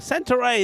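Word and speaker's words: Santarém: So, of course, we are here in Santa Ray. That's pronounced I'm told.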